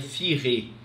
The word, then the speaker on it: Furet: A análise do historiador François Furet, a gente escreve Furet, mas pronuncia Furet.